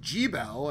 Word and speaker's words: Gebel: you're right okay like that is the correct pronunciation but it doesn't sound correct to me and I already gabble and they're like G Bell and I'm like wait what